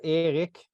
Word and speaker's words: Erik: I love your pronunciation of Erik. That's how we say it in Sweden, especially from Malmö, where